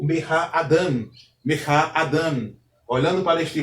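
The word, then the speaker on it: אָדָם: Então, entendemos que a sílaba tônica é a última sílaba. A sílaba que antecede a sílaba tônica é chamada de pretônica. Então, Adam possui duas sílabas, uma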